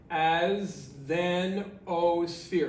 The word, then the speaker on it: asthenosphere: layer, and then the asthenosphere, just like it's spelled, as-then-o-sphere, asthenosphere. May look like a weird word, long word, but all right.